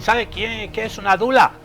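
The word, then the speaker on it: doula: Y también hay dulas. ¿Alguien sabe quién qué es una dula? Dou se escribe.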